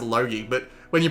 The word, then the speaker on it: Logy: cuz I'm Australian and the way I pronounce Logie or I actually pronounce it low-key but when you pronounce